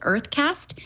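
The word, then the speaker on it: UrtheCast: So this one company that's talked about in the TechCrunch post called Earthcast, it's spelled with a U, U-R-T-H-E cast, is trying to create streaming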